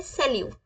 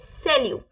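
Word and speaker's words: salut: सिर्फ हाय बोलना है तो हम क्या बोलेंगे सेलू क्या बोलेंगे सेल यू क्या बोलेंगे हम सेल यू प्लीज रिपीट करें आप मेरे साथ सेल यू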